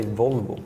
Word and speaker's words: Volvo: In Sweden we say Volvo.